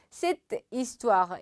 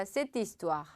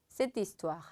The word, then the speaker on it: cette histoire: 여기 발음할 때는 cette histoire 이렇게 딱딱 끊어서 읽지 않고 여기 아쉬로 시작하니까 cette histoire, cette histoire 자연스럽게 쭉 가보면 j'ai entendu parler de cette histoire.